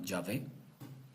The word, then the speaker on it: Yahvé: En el caso de los judíos se escribe con las iniciales y whose produce eh pronuncian como Yahvé.